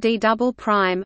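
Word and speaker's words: D″: core mantle boundary is known as the D pronounced D double prime layer the pressure at the bottom of the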